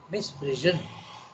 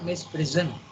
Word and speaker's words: misprision: Okay, misprision, not misprison. Misprision, an erroneous reflection of the truth of the self-existence that is within us.